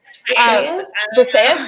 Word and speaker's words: Briseis: Briseis, thank you.